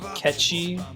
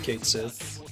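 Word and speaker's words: Cait Sith: Final Fantasy VII is supposed to be pronounced Ketchi, but I think everyone calls it Kate Sith.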